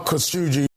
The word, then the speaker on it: Khashoggi: Official pronunciation. Jamal Khashoggi.